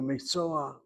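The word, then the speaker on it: מקצוע: not the sounding vowel, there's a stolen patak phenomenon. The word is mikso, but to blend to the ayin letter, you go miksoa, miksoa, and the a is pronounced before the last letter.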